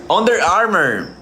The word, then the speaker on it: Under Armour: Under Armour.